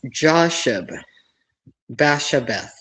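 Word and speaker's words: Josheb-basshebeth: Joseph actually this is pronounced Josh Bashabth a takammonite who was the head of the three.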